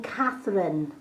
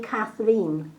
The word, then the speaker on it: Kathrine: The amount of people that actually call me Catherine, where it's actually Catherine. My name is spelled Kathrine. Hasn't got an E in it. It's an Irish spelling.